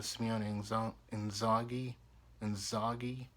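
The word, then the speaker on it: Simone Inzaghi: Credit to Simeone Inzaghi. That's how you pronounce it properly.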